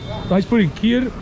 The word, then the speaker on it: kheer: Kheer, but in Hindi, kheer.